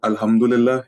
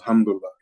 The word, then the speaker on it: Alhamdulillah: Some of my Arab friends pronounce it as Hamdullah, because they have their own dialects and slangs. So I thought, okay, that's a cool way of saying it, and I started saying it like that too.